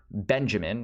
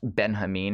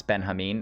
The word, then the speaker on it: Benjamin: translator of this walter benjamin or actually it's pronounced benjamin if you're a cool kid who knows that this is a german author and that's how they pronounce benjamin in german but anyways this a